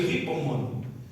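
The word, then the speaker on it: ὑπομονή: Essa perseverança ou resistência das tribulações, segundo Barclay, é o termo ripomone no grego, com H-U, se pronuncia ripomone.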